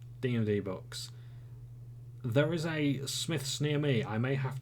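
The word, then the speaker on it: Smyths: I think it's Smiths. I think the Y throws people off, and I'm fairly certain it's Smiths. Smiths Toys. I didn't realise they sold D&D books. There is a Smiths near me.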